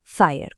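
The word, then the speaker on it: FHIR: Se pronuncia fire, como fuego en inglés y funciona exactamente como un traductor.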